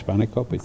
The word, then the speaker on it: spanakopita: We get the spinach pie triangles and spanakopita. Did I pronounce that right, George? Yes, spanakopita.